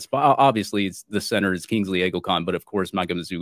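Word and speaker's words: Kingsley Eguakun: I like Kingsley Eagleton. I think it's Kingsley Iguacan.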